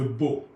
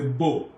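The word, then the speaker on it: Boh: Il y a aussi le système de péage sur la route de Bo. Bo s'écrit B-O-H.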